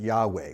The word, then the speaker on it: Yahweh: I pronounce it Yahweh.